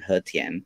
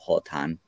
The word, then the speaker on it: Hotan: And right now in Hetian or Hotan, whatever way you want to pronounce it.